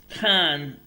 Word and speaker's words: Cannes: For your information, Cannes Film Festival is pronounced with the S silent. It's pronounced Cannes. Okay, so Cannes, like a film can.